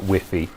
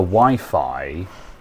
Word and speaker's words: Wi-Fi: Oh, I had a customer not long ago who was unironically calling it whiffy. Um, and like I tried to sort of subtly correct them by by saying sort of like the Wi-Fi sort of like wink wink nunch.